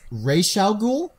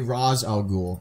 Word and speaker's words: Ra's al Ghul: It's Ra's al Ghul. I've heard. I've also heard it say Raz al Ghul.